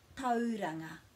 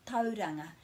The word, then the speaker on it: Tauranga: It doesn't change into ow, so it's not Kauri and it's not Tauranga. It's au. Kauri and Tauranga. Kauri and Tauranga.